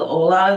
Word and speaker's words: OLA: they're taking it's called Ola the O L and L A they pronounce it Ola so it's for one